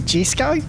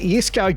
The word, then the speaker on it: Jesko: Isn't it Jesko? I mean, it's spelt with a J. Yes, it is spelt with a J, but it's pronounced Jesko, all right?